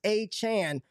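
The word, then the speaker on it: Achane: but Devon a Chan we're gonna say his name right it's a Chan he's the rb1 mustard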